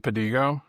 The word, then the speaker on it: Pedigo: was like adamant that your name was Padigo to people like when we first were working together? Have I ever told you that? No. I probably would. That's how my last name is pronounced so it's understandable.